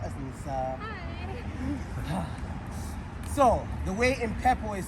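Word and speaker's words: impepho: So, the way impepo is spelled, it is I, M as in Mary, P-H-E-P-H-O.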